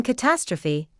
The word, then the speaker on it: catastrophe: In catastrophe, the ending is pronounced differently from the ending of apostrophe.